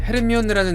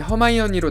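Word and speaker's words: Hermione: 한편 여기서 재밌는 건 헤르미언느라는 이름이 한국에서만 있었던 오역이었던만큼 이번엔 원래 발음인 허마이언니로 나올 것으로 보입니다.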